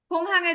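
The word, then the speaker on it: 공항: বিমানবন্দর যারা গোংহাং গোংহাং বলতেছেন, গিউকের উচ্চারণ প্রথমে থাকলে কিউ, মানে ক্ষয়ের উচ্চারণ করবেন। ঠিক ক্ষয়ের উচ্চারণ করবেন। খোংহাং। ঠিক আছে গয়ের উচ্চারণ করবেন না, যেরকম যে গুকজাং, এখানে গয়ের উচ্চারণ করবেন না। খোংহাং, এখানে খ বলবেন, এখানে খ বলবেন।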